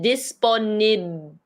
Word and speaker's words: disponible: So you say disponible. Yeah, and then you kind of ended there. Disponible. I can hear the L. Yeah, you still say this last syllable, but you don't say the E, so it's kind of short for disponible.